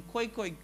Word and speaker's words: Khoekhoe: Here's the thing, when it comes to the colored identity, I'm not saying that all colored people are Khoekhoe and San.